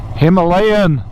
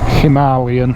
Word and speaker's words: Himalayan: instantly recognizable Royal Enfield Himalayan uh Himalayan I suppose with the correct pronunciation cuz that's how they pronounce it in India and that's where the